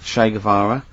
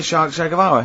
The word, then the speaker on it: Che Guevara: Che is like shake, and his surname is like guitar.